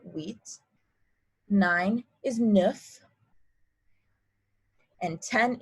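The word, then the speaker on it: huit: pretend it's sct set eight is wheat the hu makes a wha like a w sound so wheat nine is nif and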